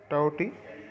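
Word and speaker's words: Tauktae: तो साइक्लोन स्ट्रोम का जो नाम है वो प्रोनाउंस है टाउटी, जो कि अरेबियन सी में एक्सपेक्ट किया गया है।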